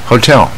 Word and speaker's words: hotel: 这个旅馆啊，旅馆 Hotel 啊，第一个念不卷舌的 O 没有问题。